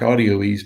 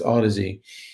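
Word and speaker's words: Audioease: how to spell that it looks like audio ease but he keeps saying ah dizzy like a dizzy but it's aa dizzy so check those out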